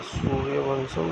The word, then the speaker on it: सूर्यवंशम: सूर्यवंशम pronounced bye सूर्यवंशम translate solar dynasty 1999